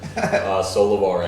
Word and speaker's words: Sollevare: I pronounced it wrong, I know it. Pretty close. Maybe the closest I've heard. Sollevare, it's Italian.